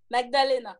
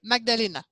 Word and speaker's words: Magdalena: Est-ce qu'on prononce le G? Oui, Magdalena. Magdalena.